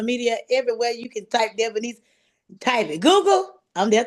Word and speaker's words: Devonese: And I like to break it down and say Devon, Devon, East, ESE, Devonese.